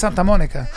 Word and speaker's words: Santa Monica: It's pronounced Santa Monica.